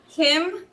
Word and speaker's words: CIM: is called Kim and it's hard C because curriculum is unseen so it's cim but it is Kim and we uh are